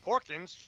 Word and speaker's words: Porkins: Um, like Porkins, it sounds It rhymes with snorkins.